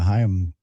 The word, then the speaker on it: Haim: I definitely should have known the Haim girls. Yeah, I didn't Did I pronounce that correctly? Haim, yeah.